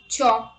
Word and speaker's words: chalk: L is not pronounced after the vowels A, O and U. Let's look at the examples. Calm, half, talk, walk, would, should, could, calf, salmon, yolk, chalk, balm.